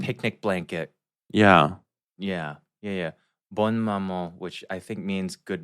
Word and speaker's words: Bonne Maman: Is it Bonne Maman? Bon Maman? Oh, Bon Maman. It's the French one with the checker top.